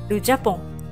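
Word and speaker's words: Japon: ですね日本です発音はじゃぽんですねその右形容詞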